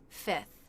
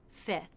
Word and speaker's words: fifth: You might sometimes hear a native speaker simplify this by dropping the F before the TH. fifth, fifth.